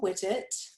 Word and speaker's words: Whittet: of your last name you got it right right it okay oh that it's like getting jiggy with it so O'Connell with its